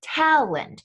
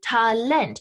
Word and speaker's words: Talent: though the english loanword talent right is being emphasized on that second syllable not how we say it in english in english we say talland in german you say talent and because of this